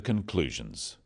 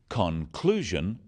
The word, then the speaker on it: conclusion: In words, one syllable is stressed. The wrong stress makes it hard to understand. So, conclusion, not conclusion. Products, not products.